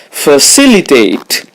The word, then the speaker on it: facilitate: The stress is on C. Facilitate. It means to make something easy or easier.